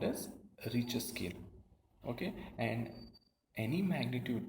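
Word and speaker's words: Richter: on a scale called rich scale okay it's not richer scale okay it is a richer scale the t is silent over there very destructive earthquakes have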